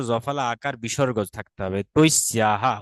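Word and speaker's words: तस्याः: তৈস্যা মানে তার, এখানে জফালা দন্তস্ব জফালা আকার বিসর্গ থাকতে হবে, তৈস্যাহা উচ্চারণ করতে হবে, তৈস্যাহা, তাস্যাহা। আগে বলতাম আমরা তৈস্যা, আর এখন বলবো তৈস্যাহা।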